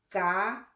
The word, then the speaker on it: cabello: Para algunas personas no nativas les resulta difícil pronunciar la doble L. Cabello.